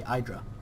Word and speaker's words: IdrA: or idra i think it's idra i've been saying aedra all along and now i certainly say idra yeah i forgot i'm gonna keep calling him idra because i think that is the right pronunciation anyway he is from